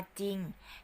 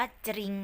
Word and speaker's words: จริง: กระดก ลิ้น นะ คะ ออก เสียง แค่ ตัว เดียว ค่ะ เช่น คำ ว่า จริง จอ รอ อีก งอน จริง นัก เรียน ยา เผลอ ไป อ่าน ว่า จะ ลิง นะ คะ มี หลาย